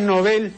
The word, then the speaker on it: Nobel: pronunciación es novel eem efectivamente Estimado Señor la pronunciación es novel así se dice en suo e creo que el uso trasladó el acento de esta palabra que repito en suec es una palabra aguda no este tras el